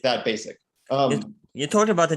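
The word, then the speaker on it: Bayezid: yeah so um so basic and gem is is is how the name is pronounced uh are the the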